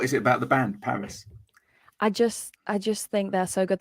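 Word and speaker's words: PVRIS: so I love a band called Paris it's spelled PVR I know them I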